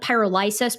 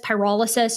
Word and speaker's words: pyrolysis: Now granted what I can see here is that um I think I called it pyrolyis. Pyrolysis is is you pronounced it I think in the correct way.